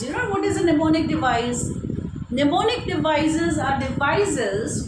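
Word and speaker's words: mnemonic: neonic the words and this device is called pneumonic device where m is silent now what are those pneumonic how it became a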